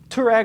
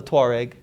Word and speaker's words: Touareg: And the tribe is called the Touareg. Yeah, but we say Touareg. I don't know. Yeah. I don't know. But I think Touareg, the tribe, is spelled without the O.